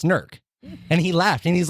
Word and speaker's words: Newark: go to go to Newark and and they don't they just don't say it right." And I'm like, "Right, it's Nerk."